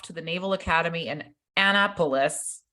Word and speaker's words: Annapolis: Diane went off to the Naval Academy in Annapolis how do you say that Annapolis yeah right Annapolis Annapolis thank you while her boo-boo went to